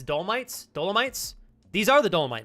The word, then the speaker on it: Dolomites: are the M I don't know how to pronounce that it's dolomites dolomites these are the Dolomite mountains yeah good